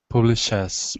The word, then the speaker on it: publishes: So a website which publishes. So remember not to swallow the ES. Publishes. Yeah. Publishes. Mm-hmm. Like a CH publishes. Mm-hmm.